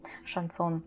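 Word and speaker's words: Chanson: английские манеры и даже есть одно слово которое заканчивается на н пишется но на слух читается шасол шансон его даже такое слово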